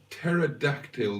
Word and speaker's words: pterodactyl: why can't you hear a pterodactyl go to the loop because it has a silent p um I hope you